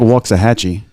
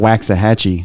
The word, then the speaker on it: Waxahachie: to ask again yeah it's like walks a hacci which which is not wax a Hetchy exactly zero yeah I